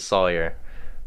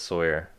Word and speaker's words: Sawyer: I used to pronounce it Sawyer, but then somebody corrected me and said it's Sawyer.